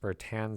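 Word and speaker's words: Bertin: t i n but I've typically heard it pronounced bertan so I'm going with that all of these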